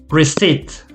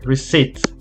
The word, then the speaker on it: receipt: piece of paper with the price here receive receipt exactly receipt remember the b is silent this is what we say so the pronunciation is like this research receipt um let me see okay so you